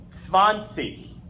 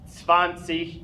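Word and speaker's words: zwanzig: not least number 20 number 20 the way we pronounce it in German fancy sponsee hey the TS again with the w that makes the V sound just like we have here Sivan see sponsee is 20 last section I'll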